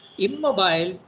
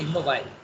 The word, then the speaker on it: immobile: all right but um usually when there's an e at the end okay of course different countries are pronouncing different things nowadays but uh it is probably preferable to say immobile immobile is french so immobile static inactive